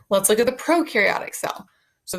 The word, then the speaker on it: prokaryotic: All right, let's look at the prokaryotic cell. So the pro rhymes with no nucleus.